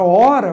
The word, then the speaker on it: hora: Você pronunciaria da mesma forma a palavra hora com ou sem o H.